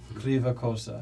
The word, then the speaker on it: Kryva Kosa: Kosa Greva Kosa.